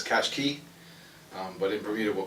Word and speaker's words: Qashqai: you pronounce it well we pronounce it as cash guy well we've heard of this couch key but in Purina we'll